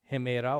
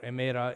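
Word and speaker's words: ἡμέρα: Keep in mind, in the Koine modern pronunciation is emera. That's why you hear people greet each other in Greece as kalamera. Kalos is good. Hemera or emera is day.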